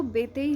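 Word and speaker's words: Béteille: हिंदी में इसको बेतेई लिखते हैं या बेते लिखते हैं। ठीक है, बेते या इस तरीके से बेतेई। ठीक है, दोनों चीज़ें ठीक है चलती हैं।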